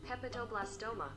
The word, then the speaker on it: hepatoblastoma: this hepatoblast hepa i'm gonna ask homegirl to pronounce it hepatoblastoma hepatoblastoma okay this is a rare tumor an